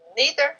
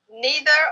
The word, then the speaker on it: neither: It's one of those words that is pronounced differently, but they're both correct.